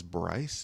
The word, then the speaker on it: Bryce: My name is Bryce. B R Y C E. It rhymes.